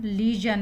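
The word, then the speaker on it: legion: एल ई जी आई ओ एन, इसका उच्चारण लीजन है, इसीलिए मैंने यहाँ पे लिख रखा है।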